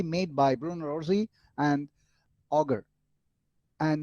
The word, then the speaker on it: Auger: by bruno rossi and auger and normally the name has been pronounced as oshei o'shea even today we have